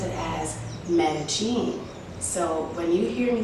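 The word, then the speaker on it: Medellín: know the city as medellin and the two l's are pronounced as a y however the locals pronounce it as medecine so when you hear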